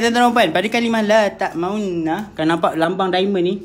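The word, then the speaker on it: لَا تَأْمَنَّا: Tapi kat sini kita belajar benda baru, iaitu la ta'maunna. Munculkan sikit sahaja. Okay, nanti kejap lagi saya tunjuk. Cara bacaan dia. Boleh? Dia Ishmam dengan Ar-Rum lebih kurang sama sahaja. Okay, boleh tuan-tuan dan puan?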